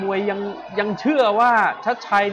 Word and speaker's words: ชัชชัย: มวย มอง อนาคต ครับ ยก นี้ อ่าน ว่า ชัด ชัย อาจ จะ ตี ได้